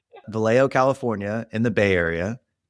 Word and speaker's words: Vallejo: She is from a small town in California called Valley Joe. Just kidding. That's not how you say it. Vallejo, California in the Bay Area.